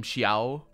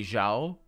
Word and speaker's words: Xiao: I have now also realized that they don't pronounce the name Xiao properly. They say Zhao.